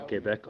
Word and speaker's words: Québec: And again, guys, for the updates for Quebec, there is a Quebec group, Convoy Québec Ottawa, and it is being spelt in French, so I'm pronouncing it French.